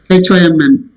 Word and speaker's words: hymn: MN cluster, whenever there is an MN cluster is there closely, 2 consonants wherein M and N are there, last letter, N is silent.